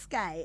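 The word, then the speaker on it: SKYE: In collaboration with, I think it's pronounced SKY, S-K-Y-E, right?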